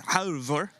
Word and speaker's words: Halvor: It's Halvor. Halvor is his first.